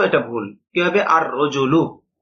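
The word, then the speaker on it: الرَّجُلُ: রজুলন আলিফ লাম য আল রজুলু এটা ভুল কিভাবে আর রজুলু লাম উচ্চারণ হবে না এই বিষয়টা বুঝানো হয়েছে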